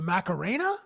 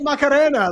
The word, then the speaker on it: Macarena: Well, it's the Macarena. Like, I I don't know. You roll the R because you get like a little bit of Latin flare.